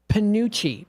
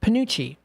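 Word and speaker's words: penuche: It is pronounced Panucci. Panucci. Thank you so much. For people like me who can't, I appreciate the help. Panucci.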